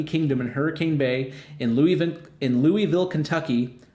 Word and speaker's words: Louisville: Hersch has officially acquired Kentucky Kingdom and Hurricane Bay in Louisville, Kentucky, or Lowellville, I believe is how you would say it if you're from around those parts.